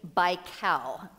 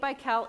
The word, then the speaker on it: Baikal: the deepest lake in the world is Lake Baikal I think that's how you spell it or how you pronounce it b-a-i-k-a-l and